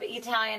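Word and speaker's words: Eataly: uh Club Italian in well you say Club Italian I want to be sure our audience knows it's spelled e a Italian capital e capital E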